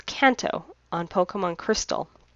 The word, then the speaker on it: Kanto: Kanto. It's Kanto on Pokemon Crystal. For kids translations, yes, it's pronounced Kanto. However, in Japanese, it is pronounced Kanto. Ka-n-to.